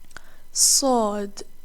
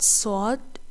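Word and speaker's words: صاد: Saad. Many beginners pronounce this exactly like Sin, but Saad is a heavy letter.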